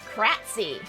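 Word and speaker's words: Krtzyy: they got the likes in 24 hours it's pronounced kratzy all right and his name is dave yes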